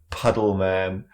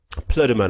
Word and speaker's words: Plüddemann: It's pronounced right. Plüddemann and not Plüddemann. Plüddemann. Puddleman.